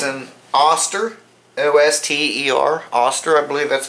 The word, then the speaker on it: Oster: It's an Oster, O-S-T-E-R, Oster, I believe that's how you pronounce it, Oster.